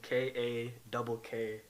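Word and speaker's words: Kakko: Kaapo, and then last name Kako.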